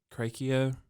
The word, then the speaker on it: Krakoa: this whole I guess it's creaky Oh is how you pronounce great those Craig kills